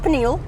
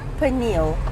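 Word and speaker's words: Pniël: too quickly it's not panal it's panal yeah the emphasis is more on the P eh well it's on the p and the N where we yeah we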